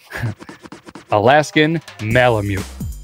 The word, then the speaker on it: Alaskan Malamute: want Matt to keep continually saying it wrong Alaskan Malamute oh nailed it you never